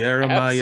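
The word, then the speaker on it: Yara-ma-yha-who: That is the Yarama Yihahu. Did I pronounce that right there? Yeah, Brock? Yaramayahu.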